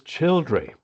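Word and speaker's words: Childrey: The Childry actually means it comes from Chilan Rith, which actually means chillers or Scylla. I think Chiller is the proper pronunciation rather than the pronunciation in Scylla Black. Chiller stream, and Rith is a small stream. And that's where it's located, where the Rith, the small stream, emerges from the chalk.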